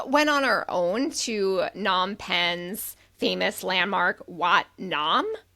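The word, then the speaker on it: Phnom: We went on our own to Nom Penn's famous landmark, Watt Nom. That's ph N O M. PH is silent. Wat Nom.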